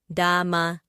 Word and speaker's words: dama: We also have the next word is spelled d a m a which is pronounced dhama.